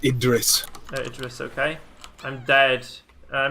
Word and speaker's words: Idris: It's pronounced Idris.